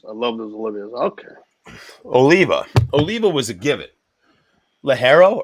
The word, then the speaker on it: Oliva: But the amount of shit that people don't know, like Olivia cigars. Oliva. You guys got those Olivias? I love those Olivias. Okay. Oliva.